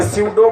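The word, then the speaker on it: pseudo: स्यूडो को स्यूडो ही बोलना है, क्योंकि पी साइलेंट है।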